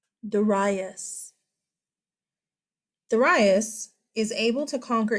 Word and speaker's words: Darius: Then we have a new king, Darius. Did you hear me? It's not Darius. It's a modern pronunciation. Darius.